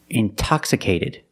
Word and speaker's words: intoxicated: Or words like intensive, intoxicated. We have the stress after the NT. We pronounce the T like a pure T.